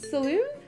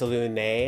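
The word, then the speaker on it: Selûne: Right, okay, Saloon? It is actually pronounced Salune, and as a goddess of creation, I assume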